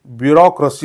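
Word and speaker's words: bureaucracy: आर ए सी वाय तर मित्रांनो ह्या शब्दाचा उच्चार हा ब्युरोक्रसी होतो काय होतो ब्युरोक्रसी होतो यांचे स्पेलिंग थोडसं अवघड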